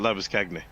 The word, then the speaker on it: Labuschagne: Yes, I have to think to pronounce it Labuskagny.